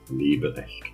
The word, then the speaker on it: Leberecht: And yeah, very nice, by the way, how you pronounce my name in a proper German, Leberecht way.